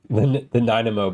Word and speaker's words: Nanaimo: The Nanaimo bars.